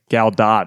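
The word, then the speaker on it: Gal Gadot: of the show yeah gal do is how she's pronounce it on Jimmy Kimmel oh she did gal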